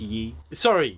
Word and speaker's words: Ye: it's actually pronounced Yi.